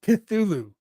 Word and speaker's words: Cthulhu: Cthulhu is pronounced Cthulhu.